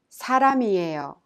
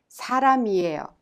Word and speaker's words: 사람이에요: 사람이에요 is pronounced 사람이에요. Do you remember how final consonants are prolonged? The final consonant M in 람 of 사람 is combined with E in 이에요 and thus is pronounced 사람이에요.